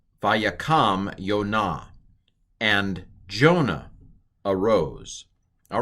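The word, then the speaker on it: יונה: It's a holum vav, a long O. So yo. And then what's this one again? It's kamatz. Kamatz hey. Again, the hey is a piggyback for the kamatz. So this is yo na.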